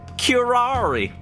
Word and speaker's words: curare: meaning of this oh this is how you pronounce it kirari curare okay kirara okay curare what is the meaning